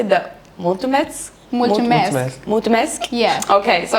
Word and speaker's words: mulțumesc: But I don't know how to say the mulțumesc.